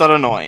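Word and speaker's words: Adonai: up the Hebrew alphabet this would be pronounced roughly yeeha uh but is pronounced out anoi and in every prayer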